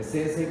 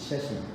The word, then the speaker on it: Sasi: SASI can be Sasi, but my name is not Sasi, it is Shashi.